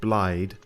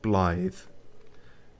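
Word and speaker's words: Blaidd: sounded like he said blyde it's actually pronounced blithe and I think it is a Welsh thing so yeah anyway some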